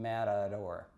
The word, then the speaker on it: matador: It's spelled with a T and a D, but it's not a T and a D. It's actually the sound, matador, if you think about it.